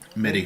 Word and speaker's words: MIDI: MIDI track mighty track. Midi track. I can never remember how to pronounce that. MIDI. MIDI.